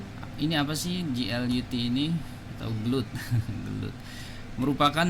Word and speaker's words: GLUT: Kemudian GL utility ya, atau GLUT ya bacanya. Ini apa sih GLUT ini, atau GLUT?